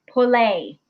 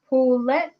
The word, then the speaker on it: poulet: Pole. No. Pola. Pole. No. No. Say it how it's said. Spelled. Say it how it's spelled. Poulet.